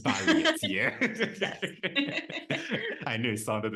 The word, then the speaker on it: Balliet: I hope I go your surname right please pronounce it for me marketing oh my name yeah yeah yeah your saw name oh balet balet yeah I knew it sounded a bit off